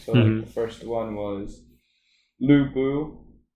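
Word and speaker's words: Lü Bu: the first one was lubu think is how you pronounce it i call it lobo but it's about lubu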